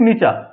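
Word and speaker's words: Nietzsche: Writer लिखने हैं हेडरिक नीचा फेडरिक नीचा ठीक है? ध्यान रखना इसको फ्रेडरिक नीचा बोलेंगे।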